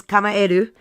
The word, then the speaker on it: Kamaeru: Kamaeru, which, by the way, almost everybody says wrong. And I'm not surprised. I was one of them, too. But when I was at PAX East and met the developers, they taught me how to say it right. So it is Kamaeru. It is Japanese for frog, which they also told me while I was there.